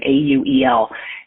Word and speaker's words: Auel: Auel, I think is how you pronounce her last name, Auel.